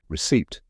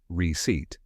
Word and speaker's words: receipt: that confuses many people receipt so how do you say it here's the correct pronunciation receip let's break it down step by step first part is re like in the word repeat and the second part